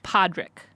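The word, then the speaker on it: Pádraig: why tell me because the way you say Patrick in um Irish is Podrick but I still don't it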